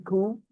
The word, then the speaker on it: coup: had uh, an army coup, army coup, you understand? Army coup? When an army general, comes into power forcefully, that is called army coup, C-O-U-P, C-O-U, coup. Not coup, coup. P is silent.